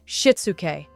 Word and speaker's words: Shitsuke: The first concept is called Shitsuke, pronounced Shitsuke.